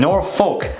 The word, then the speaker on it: Norfolk: often mispronounced is the Norfolk people that are not from here little C n ORF o lk they'll say that see that folk they'll pronounce the folk and nor folk that is the one